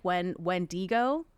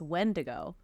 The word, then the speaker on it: Wendigo: He says like Wendigo. No, it sounds worse. I'm like, no, it's Wendigo.